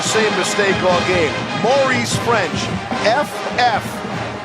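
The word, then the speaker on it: Ffrench: about pronunciation you go is it demores French the first half is silent second and 10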